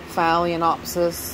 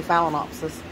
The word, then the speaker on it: phalaenopsis: book is that way phallianopsis is how you say it I don't say it that way phallianopsis phalaenopsis I say phalaenopsis catlia Cattleya and I